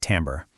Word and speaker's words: timbre: Okay, this next one is really cool, timbre. And yeah, it's pronounced tam-ber.